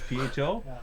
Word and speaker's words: pho: Is PHO?